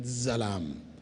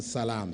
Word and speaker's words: Salam: Clearly, not Zalam. Zalam is different from Salam. Salam means peace. Zalam means oppression.